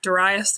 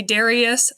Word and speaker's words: Darius: challenging than expected because they wanted us to pronounce the names a certain way so you know for instance I've been used to saying daras III MH entire academic career they wanted me to say Darius later on they actually